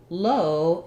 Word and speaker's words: low: we have ah there low is our o vowel so the difference between